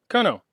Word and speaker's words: colonel: person had his name colonel from the south is pronounced kano that's why i put